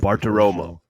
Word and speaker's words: Bartiromo: Bartiromo.